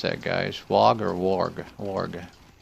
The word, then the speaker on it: warg: Wog or warg? Warg. How do you pronounce it, Doctor? I pronounce it warg, but okay. If I were, say, from the UK, I might say wog.